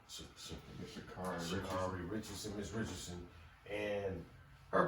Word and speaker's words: Sha'Carri: How do you pronounce her name? Sha'Carri Richardson, Miss Richardson, and her performance.